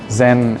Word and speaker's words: Scen: but also the name zen is swedish for stage but it's pronounced like the japanese zen so it's an infinite